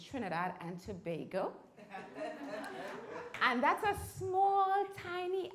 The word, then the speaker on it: Trinidad and Tobago: I come from, I know Sherman told you, Trinidad, and he was pronouncing it wrong. It's Trinidad and Tobago.